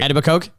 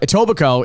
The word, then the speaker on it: Etobicoke: So, okay, if you don't know what I'm talking about, Etobicoke is a suburb of Toronto. Yes. And they did not nail that pronunciation.